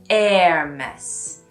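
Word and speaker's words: Hermès: at the beginning is actually pronounced more like the word air in English, like the air in the room. So say more like an Hermes. And then you're really getting close to the French pronunciation.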